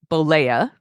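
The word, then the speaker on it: Bollea: start at the beginning Terry Jean ble uh blea that's his real name it is I looked it up even how to pronounce it blea born August 11th 1953 in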